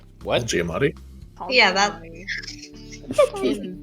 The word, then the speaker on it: Giamatti: No, Paul Oh, no, that's Giamatti and Tove and what is it?